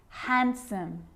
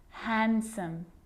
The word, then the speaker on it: handsome: Yep, it can be silent too. Wednesday, handsome, sandwich.